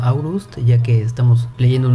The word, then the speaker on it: Aurust: Seguramente el castillo se escribe Olst, pero se pronuncia Aurust, ya que estamos leyendo